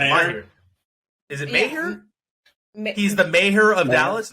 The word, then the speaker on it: Maher: Mahir. That's how you pronounce it. Mahir. Is it Maher?